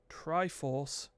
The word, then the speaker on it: Try4ce: Join Corey Carlson and Mark Triforce. That's how you pronounce that. There you go. TRY4CE. That's Triforce.